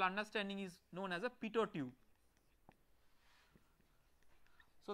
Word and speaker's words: Pitot: So the device is based on this conceptual understanding is known as a Pitot Tube. So the last t is silent so it is pronounced as Pitot Tube.